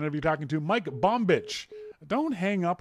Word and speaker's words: Bombich: Now on our phone, we've got our friend Mike Bombich. I've been corrected on the pronunciation of his name from Carbon Copy Cloner.